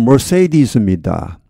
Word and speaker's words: Mercedes: Mercedes-Benz를 하죠. 영어 발음 Mercedes입니다.